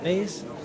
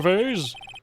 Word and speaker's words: vase: the dresser accidentally knocked over the flower V vase flow vase it's pronounced vas also are you talking about the